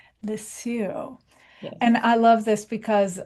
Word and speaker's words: Lisieux: She's just all kinds of cool and her favorite saint is pronounce this name for me, Monica. I want to be sure. Saint Therese of Lisieux. Lisieux.